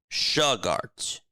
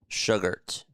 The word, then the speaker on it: Sugart: Sugart. Rhymes with sugar with a T. Sugart. Got it.